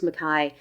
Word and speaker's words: McKay: favorite writers a an English writer called Hillary McKai it's spelled U Mai spelled McKay m cka a y but pronounced McKai it's the first in the bie series now